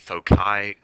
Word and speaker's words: foci: I pronounce it foci. A lot of people pronounce it foci. I looked it up and apparently both of them are acceptable, but I'm going to say foci because I like that better.